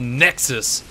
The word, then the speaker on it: Nexuiz: the Xbox Live marketplace it's called Nexus but it's spelled like next you is you damn straight homie